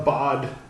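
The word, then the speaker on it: ba'd: Bad. Well, bod, B-A-D, apostrophe.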